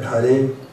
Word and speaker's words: Hare: There's two syllables, right? Hare. No, there's two. Hare. Krishna. That's four.